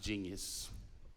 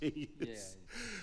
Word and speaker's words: GNS: King is also a professional DJ and event MC known as King GNS, pronounced genius. Okay. Pronounced genius.